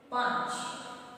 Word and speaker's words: पांच: पांच, हम पांच बोलते हैं और ऊपर अर्धचंद्र बिंदी लिखा है। क्यों? इसका उच्चारण पूरी तरह से नहीं होता है। जैसे यहाँ पे हम बोलते हैं कंठ, कंठ बोलेंगे तो बीच में न का उच्चारण दिखाई। जब पांच बोलेंगे तो वो अर्ध अनुस्वार है।